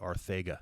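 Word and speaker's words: Arcega: to Eagles games that they say Arthega, like Arthega. Yeah, Arthega, it's the Barcelona accent. I think his family's from Spain. It's unbelievable. So it's pronounced with the Barcelona accent there.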